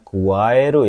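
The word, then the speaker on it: 加える: Ya, ini bacanya kuaeru ya minasang.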